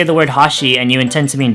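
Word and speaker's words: はし: pronounce it in conversation when you're pronouncing Hashi in the sense that you want it to mean Chopsticks you go from a high to low pitch pattern so basically it might sound something like Hashi in contrast when you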